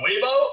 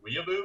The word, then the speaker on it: weeaboo: And I was like, "You mean a weeaboo or a weeb?" And she was like, weeaboo, dude. Weeaboo. And I was like, "Bro, you don't even know how to pronounce that."